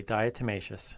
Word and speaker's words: diatomaceous: Diatomaceous.